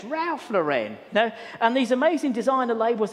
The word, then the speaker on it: Ralph Lauren: And she said, it's not Rolf Lauren, it's Ralph Lauren.